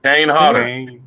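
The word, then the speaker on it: Kane Hodder: it's it's no say it right Bo yeah Kane hter Kane hter Kane hter and he's a really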